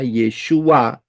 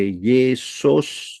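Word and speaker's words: ישוע: dari kanan ke kiri itu pengucapannya yesua Yod Shin wau Ayin tidak bisa diucapkan atau dilafalkan atau dibaca sebagai Yesus atau Jesus itu tidak bisa sama sekali karena Yod Shin W Ayin pelafalannya pengucapannya cara membacanya adalah yesua ya Bukan Yesus atau Jesus bukan ya Dari sini Kita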